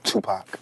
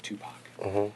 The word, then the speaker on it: Tupac: Tupac. Tupac. Remember, like two and Pac like pocket. You won't go wrong.